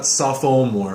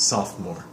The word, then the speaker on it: sophomore: other gayoung pronunciation wise a sophomore sophomore ii ole is doesn't really make a sound it's not softball more it's sophomore and you said it